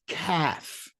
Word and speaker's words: calf: The next one sounds like cough, but it's calf.